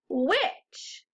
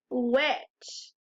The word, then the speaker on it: which: that's close but like one of our other tricky words the H doesn't make a sound that's the tricky part